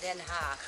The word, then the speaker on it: Den Haag: She lives in The Hague, Den Haag. Sounds horrible for a lot of people, but in Dutch it's pronounced Den Haag.